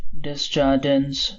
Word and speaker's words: Desjardins: He pronounced Desjardins the English way, the S's intact, and in spite of her training in French, this is how she still thinks of it.